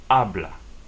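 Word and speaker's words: hablar: blah you say ah hes are silent in Spanish ablah abah now with a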